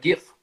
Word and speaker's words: GIF: GIF. I don't know how to say it, but GIF. Yeah, GIF, like the peanut butter with a G.